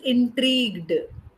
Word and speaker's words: intrigued: in spelling okay okay intrigued okay that is pronounced as intrigued intrigued intrigued yeah that means curiosity you are or